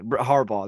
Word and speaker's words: Harbaugh: Yeah, Harbaugh.